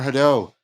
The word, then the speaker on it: Hadot: Could you say more about if I'm getting the pronunciation right, Pierre Hadot? Is that right? Yes. Oh, Pierre Hadot.